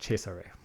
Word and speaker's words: Cesare: I used to always think Caesar, Caesar, or Cesare, but I believe the Germans said Cesare. That makes sense. I've heard that before. Oh. Cesare.